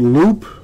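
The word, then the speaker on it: Loupe: shop in wynwood uh it's called loop it's spelled l-o-u-p-e if you want to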